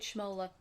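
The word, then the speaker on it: Schmoeller: Directed by I'll let you say his name because you know how to pronounce his name. Thank you. It's David Schmola who also did Taurus Trap by the way.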